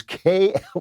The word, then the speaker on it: Klavan: Sound it out. It is Klavan. There are no E's in Klavan.